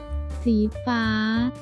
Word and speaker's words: สีฟ้า: su vez tiene el símbolo del tono descendente, por lo que en esta parte diría. ฟ้า Pero la primera letra y el último símbolo no especifican tonalidad, así que es medio. Esta palabra se pronuncia.